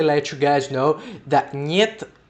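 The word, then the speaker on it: нет: So I just wanted to quickly let you guys know that niet, which is not pronounced het or something, it's niet, is just no in Russian.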